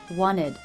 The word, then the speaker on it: wanted: I said wanted. I dropped the T.